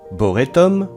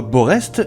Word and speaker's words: Borest: boretton Villa beau recom boréum boray et enfin le Boré d'aujourd'hui pour ce qui est de la prononciation si vous disiez comme moi borrest et bien comme moi vous avez tout faux Boré est un des